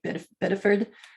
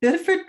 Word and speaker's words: Biddeford: The Biddeford, which is BIDDEFORD, and we say it funny in New England, so we say it like Biddeford.